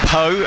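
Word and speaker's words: Pau: Yeah, Toulon won here last weekend, 36-13 against Joe Simmons' POW side, or Poe, as I think some people pronounce it.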